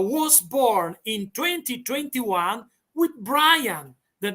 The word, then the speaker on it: Brian: I have to say Brian. You got to roll the R.